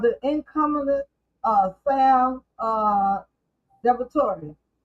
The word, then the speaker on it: DiVittorio: You have the incumbent uh Sam uh Depratori.